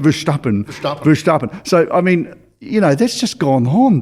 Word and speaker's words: Verstappen: Verstappen.